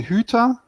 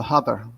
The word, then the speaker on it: Huther: do you pronounce it the real german one is the huta in the us you don't have the umlaut it's the hubber so either way okay